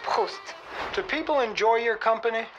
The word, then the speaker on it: Proust: Well, Look, it's not Proust. it's pronounced Proust.